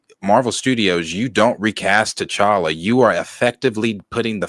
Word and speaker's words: T'Challa: a song Thank God to Chara rhymes with dollar gotta put phone every